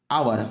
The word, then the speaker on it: hour: आवर, HOUR हो तो शुरू हो रहा है कॉन्सोनेंट से, लेकिन इसको पढ़ते हैं आवर, मतलब आवर, वॉवेल से